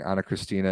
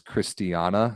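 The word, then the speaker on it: Ana Cristina: how they are they're pronouncing Anna Christina as Christiana they're oh inventing a new syllable in her name oh yeah I would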